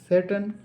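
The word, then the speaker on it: Tsetan: वे to mount Kailash सेटन ने यहां सेटन ही पढ़े क्योंकि यहां पर टी साइलेंट है तो तो यहां पर सेटन टेस्टर नहीं पढ़ा जाएगा सैटन है ठीक है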